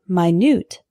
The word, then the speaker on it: minute: back in 10 minutes the word minut is spelled the same way but it's an adjective meaning extremely small for example this isn't an exact replica there are some minut differences minute minut our next